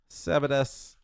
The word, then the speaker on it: Sabadas: Sabadas. Des. Honestly, the first S is silent, by the way.